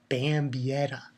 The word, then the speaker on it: Bambietta: Okay, pretty much we see that, you know, Bambietta. There we go. Bambietta.